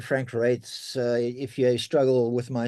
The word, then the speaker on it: Reitz: with my surname um that's how it's pronounce rates if you can say rates you can say my name it's ofans the EI is is pronounced a um it was German before so it was but uh it isn't that anymore we off um so um